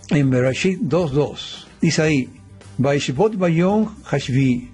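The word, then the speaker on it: וישבת: Dice, y descansó, es decir, esto se pronuncia Vaishbot en el séptimo día, ¿no?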